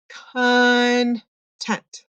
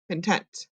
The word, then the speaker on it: content: So the schwa is found in the unaccented syllable, or the part that doesn't have the stress or the emphasis. So the part that we kind of just slide over a little bit.